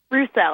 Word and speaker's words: Rousselle: Christine, your last name is Rousselle, right? Rousselle, actually, with more of a U sound. Rousselle.